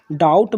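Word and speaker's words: doubt: है ठीक है दोस्तों डाउट में बी जो होता है वो साइलेंट होता है इसका उच्चारण नहीं किया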